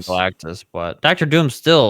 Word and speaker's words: Galactus: not gonna be in that it's gonna be Galactic remember already said it right Galactus but Dr Doom's still like he's like he's